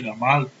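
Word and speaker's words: גמל: Por exemplo, nossos sábios dizem que você sonhar que viu um camelo, que por sinal a palavra camelo em hebraico significa gamal, a pronúncia gamal, significa que a pessoa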